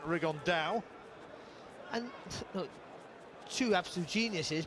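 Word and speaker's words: Rigondeaux: fighting rigond though or as he's correctly pronounced with the uh the Spanish accent rig on Dow and so two absolute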